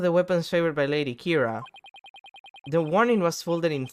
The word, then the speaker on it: Kira: It's like the same thing that in Death Note where Kira is called Kira because that's what it sounds when you pronounce it in Japanese.